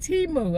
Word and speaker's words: Temu: T-Mu.